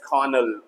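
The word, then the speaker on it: colonel: तो I hope आप भी अब इसमें गलती नहीं करेंगे, और कर्नल तो बिल्कुल भी नहीं पढ़ेंगे, इट्स कर्नल। ओके, चलते हैं पी। पी से कौन कौन से साइलेंट होते हैं?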